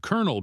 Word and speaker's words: colonel: Pronounced Colonel because why not?